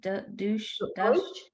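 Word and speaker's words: Deutch: Deutsch.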